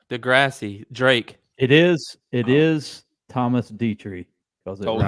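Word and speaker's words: Detry: It is Thomas Dietrich because it Told you. rhymes with Petri dish.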